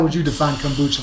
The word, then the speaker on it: kombucha: So I guess too, to get into it now, kombucha.